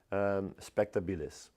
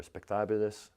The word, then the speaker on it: spectabilis: It's Dicentra spectabilis, or spectabilis. I don't know, it depends on how you want to pronounce it.